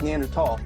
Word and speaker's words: Neanderthal: man you're a neanderthal first of all it's pronounced neander tall secondly he was stumbling